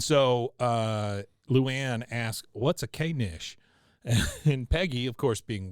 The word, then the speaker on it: knish: And so Luann asks, "What's a K-nish?" And Peggy, of course, being well-informed and a worldly lady, says, honey, it's pronounced niche. The K is silent, and I have no idea.